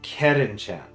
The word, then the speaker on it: Curren Chan: Her name comes from the owner's daughter, Karen-chan. Oh, so it's Karen. But it's just spelled like the Japanese way. It's like the Czar thing for Japanese. So it's Karen-chan.